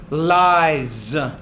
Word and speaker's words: lies: life, lies, No, it's lies. The S there is going to be pronounced as a Z. It comes after a vowel sound.